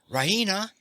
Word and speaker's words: Raina: full of good news ryna she pronounces it ryna with the stress on the e she goes to the